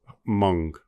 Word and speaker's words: Hmong: as Hmong, but you're saying how would you pronounce it properly? Hmong, with a U or an ong? Hmong.